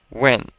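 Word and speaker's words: 问: up with when and this is a fourth tone word so let's pronounce that fourth tone is very quick and sudden when when when excellent and in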